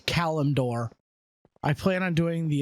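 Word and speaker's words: Kalimdor: I know it's not Calador, it's Calumdor.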